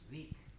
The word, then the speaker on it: wreak: It's pronounced reek.